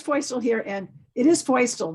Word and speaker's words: Feustel: All right, so Feustel here, and it is Feustel, rhymes with.